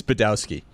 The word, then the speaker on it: Badowski: uh what what the is your last name again because it's unpronouncable it's badowski that guy Roy Bellamy this